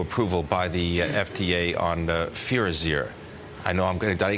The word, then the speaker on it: Firazyr: Tell me a little bit about the new approval by the FDA on Firazyr. I know did I pronounce it all correctly?